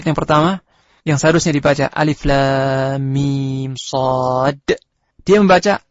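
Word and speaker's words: المص: surah Al-A'raf, ayat yang pertama, yang seharusnya dibaca Alif Lam Mim Shad, dia membaca Alamas.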